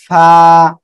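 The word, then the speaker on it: ف: এ অক্ষরটা আপনি যখন উচ্চারণ করবেন তখন নিচের ঠোঁটের পেট, সামনের উপরের এই যে দুটো দাঁত, দুই দাঁত এই নিচের ঠোঁটের পেটের সঙ্গে লাগবে, লাগিয়ে আমরা হালকা বাতাস বের করব, বাতাস বের করে আমরা এ অক্ষরটা উচ্চারণ করব। ফা ফা, বাতাস বের যদি না হয় তাহলে কিন্তু পা হয়ে যাবে, তখন কিন্তু আমাদের ভুল হয়ে যাবে, ঠিক আছে?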